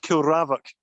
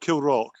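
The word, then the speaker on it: Kilravock: put out there really it's pronounced kill ravic not kill rock in case that's what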